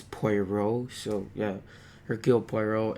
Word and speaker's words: Poirot: what I know now no that's how you say it because apparently I used to say party red it's POI row so yeah her Guild